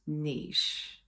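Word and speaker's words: Niš: to their third largest city which is called Niche yes now it's spelled n in English it's not pronounced n it's pronounced Niche okay got to get it right serbs get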